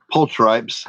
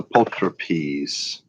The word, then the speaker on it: pulchripes: Most Americans pronounce this pulchripes. That's not the proper pronunciation. It's a pulchripes.